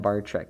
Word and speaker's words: Barczyk: because he's like canadian bar sizzik it's brian bartrek but it's pronounced it it's pronounced brian bartrak but it's spelled brian barcizik for some reason